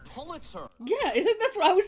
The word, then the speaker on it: Pulitzer: And can't even pronounce the word Polster. It's Pulitzer.